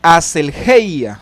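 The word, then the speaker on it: ἀσέλγεια: En griego es aselgeia, lo estoy pronunciando tal cual se escribe, aselgeia con G.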